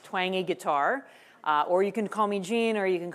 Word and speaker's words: Twenge: So, my name is Jean Twangi. If you can't remember how to pronounce my last name, it's Twangi Guitar.